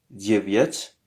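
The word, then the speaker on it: девять: 8 se dit vosem 9 se dit viat diviet et finalement 10 se dit diet alors il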